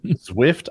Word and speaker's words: Zwift: There's an app called Zwift, I think. It's spelled like Swift, but so he can race people online, and it measures the amount of output he puts into his pedals.